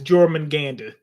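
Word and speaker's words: Jörmungandr: It's Jormungandr.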